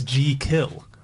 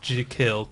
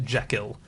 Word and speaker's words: Jekyll: one is we're all saying it wrong it's G kill if you were pronouncing it pronouncing it it's je e and